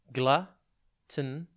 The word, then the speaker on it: gluttonous: Today's word is gluttonous. It's pronounced gluttonous, and it is spelt Gluttonous. Think glut, and then the word ton, as in this weighs a ton, and then us.